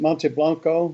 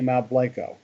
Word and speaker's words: Mount Blanco: Should be pronounced Monte Blanco, but we're in Texas, so we say Mount Blanco.